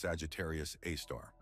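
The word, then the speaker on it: Sagittarius A*: The Milky Way, our home galaxy, is home to an immense black hole that has earned the name Sagittarius A, pronounced Sagittarius A star.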